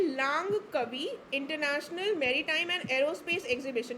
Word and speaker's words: Langkawi: हुआ है, तो ये लांग कवि मलेशिया में हुआ है। LANGKAWI, ठीक है, तो प्रोनाउंसिएशन लांग कवि कुछ भी बोल लेना।